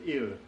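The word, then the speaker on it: ال: But in dialect, it's usually pronounced el or il, very similar to the Italian, Portuguese, and Spanish definite male article, il.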